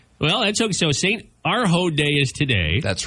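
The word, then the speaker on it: Urho: Arho Day?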